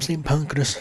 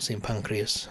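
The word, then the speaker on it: St Pancras: uh it goes from St panas station not see pancreas as Charlotte pointed out was mispronouncing it but yeah yeah you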